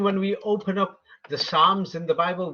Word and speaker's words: Psalms: we open up the Psalms in the Bible we will say Psalms but they'll spell it with a p do they spell it